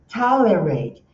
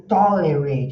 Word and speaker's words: tolerate: Tolerate. Observe que eu não estou falando tolerate, eu estou fazendo tolerate. Tá? Esse A. E aqui está falando por energia. Essa aqui é a sílaba tônica.